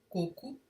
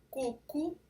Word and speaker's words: coco: Por tudo que se entende de acentuação, coco é uma palavra paroxítona terminada em o e não leva acento.